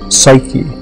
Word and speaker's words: psyche: and the name was in greek psyche uh is how we pronounce it now and the word means